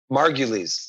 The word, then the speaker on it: Margulies: It's Margulies. Margulies. I'm putting the emphasis on the wrong. I went Margulies. Margulies. Thank you. Yeah, you're turning it Irish.